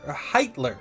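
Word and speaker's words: Heiter: and a human priest named Hitler heitler not Hitler heitler two different people before they part they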